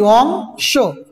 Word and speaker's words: অংশ: অংশ। এই যে এটা উচ্চারণ করছি অংশ, স উচ্চারণ করছি, অ এর উচ্চারণটা কি হয়ে যাবে? ও এর মতো হবে, অংশ।